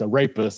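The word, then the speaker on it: arepas: then a rapist and that spell it sounds like i said i rape us but it's a rapist it's a-r-e-p-a-s my children make fun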